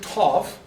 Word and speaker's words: tav: This is the tav. Okay? So it's simply pronounced T, with a T.